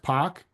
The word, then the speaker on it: Pach: My last name is pronounced Pach, and I'm a native of the south side of Chicago.